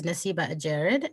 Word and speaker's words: Nassiba Adjerid: hi uh good afternoon uh my name is nasib ajarid and i am a professor at the college